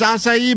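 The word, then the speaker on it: açaí: told me as it's a it's asai bowl. I've always said to have them spell it just to make sure.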